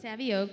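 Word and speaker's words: Savioke: examples so you have how do you pronounce of yolk savvy okay savvy oak which is a robot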